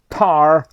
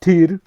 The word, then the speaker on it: Tyr: And you have Tyr, which is pronounced, a lot of almost everybody in the world who's not Scandinavian, they call it Tar, which is wrong. It's pronounced Tyr.